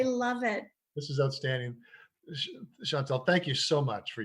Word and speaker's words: Chantale: Now, Chantale with a silent E on the end, That's because a lot of right. people forget that.